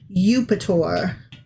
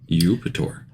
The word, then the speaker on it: Eupator: Eupator. Europator. I kind of actually like that name. It's kind of neat. Yeah. It's almost Jupiter, but it's spelled EUP.